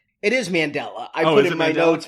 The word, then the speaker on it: Mandela: I thought he might have named his kid after spelled like. It is Mandela. I put in my notes. Melind Melinda. Melinda.